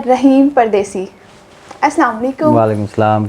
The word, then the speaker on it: Rahim: राहिम का मतलब अगेन रहम करने वाला।